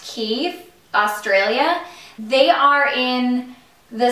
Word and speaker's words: Quay: these sunglasses from key it's spelled q u a y so it looks like Quay but I think it's pronounced key Australia they are in